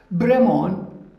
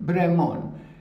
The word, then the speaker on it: Brémond: Brémond, it's a French surname, Brémond, B-R-E, accent aigu, M-O-N-D, Brémond. As you know, in French, we don't pronounce the last letter.